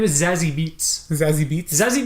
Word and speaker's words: Zazie Beetz: Her name is Zazie Beetz. Zazie Beetz? Zazie Beetz.